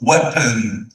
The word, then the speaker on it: weapon: weapon. الاو دي مكسورة. weapon.